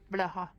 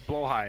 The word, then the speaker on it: Blaha: Blaha. That's not how you pronounce it. Why is that so realistic? Blaha. That's not how you pronounce Yo, it. I have cards too. It's blow high.